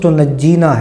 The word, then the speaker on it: تنجینا: اس کا نام ہی بعض اس کو تنجینا بھی پڑھتے ہیں، لیکن درست تلفظ تنجینا ہے۔ اور یہ درود پاک